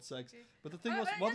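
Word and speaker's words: CeX: I've always called it Kex, but apparently they found out it's called Sex. Yeah. It's spelled C-E-X, but hey.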